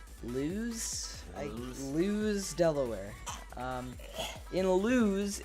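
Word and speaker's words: Lewes: it is Owen it it's le w es so lose I lose delaware in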